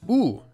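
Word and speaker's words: ㅜ: This vowel is pronounced ooh like the ooh sound in the English word glue.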